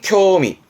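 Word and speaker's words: 興味: 자다 그게 기초반 때 많이 했던 흥미의 흑자죠 발음은 쿄미 쿄미 아직 흥이 좀 남아 있는 거죠 여흥이라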